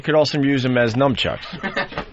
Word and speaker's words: nunchucks: But how do you say the first one? Nut? Nunchucks. Nut. N-U-N. Nun.